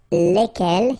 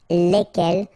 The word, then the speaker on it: lesquels: end, okay, and the good news is that phonetically it's lesquels here for the masculine form and then lesquels for the feminine form, alright, so phonetically it's